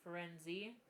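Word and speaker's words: Firenze: It's not until the going in the forest and Ferenz, which apparently in the audiobook they pronounce it Ferenzi, and I just can't think, but Ferenz.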